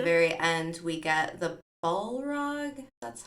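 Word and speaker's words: Balrog: then at the very end we get the ball rug that's how you say it we get this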